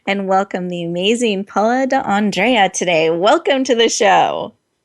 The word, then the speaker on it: D'Andrea: And did I pronounce that correctly? D'Andrea? D'Andrea. Thank you. D'Andrea.